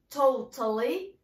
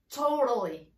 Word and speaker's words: totally: the american accent sorry so when you have t in the middle you can pronounce it r totally totally beautiful beautiful okay so